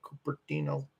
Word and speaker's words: Cupertino: Cupertino.